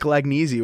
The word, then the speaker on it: Lagnese: It is Lagnese. What's going on, man? Dude, fantastic pronunciation of my last name.